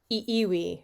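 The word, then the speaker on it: ʻIʻiwi: case the beak size of the eewee that's how it's pronounced and there's selective pressure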